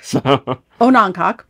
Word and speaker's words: Onancock: Okay, so we heard three different pronunciations from locals. Okay, on a noncock, and noncock and noncock.